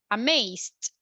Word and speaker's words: amazed: What is the last sound? Amazed. So do you feel vibration when you pronounce the Z? Z. Amazed. Vibration, yes or no? Yes. Actually, we do, right? We have vibration. So we are going to say it with the letter D.